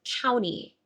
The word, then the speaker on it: county: This is just the word county. County. And notice that in my particular dialect of American English, I do not pronounce this T after the N.